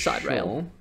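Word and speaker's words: Sideræl: Then they say it's pronounced Sidereal, I believe. Musk. It's Side Rail.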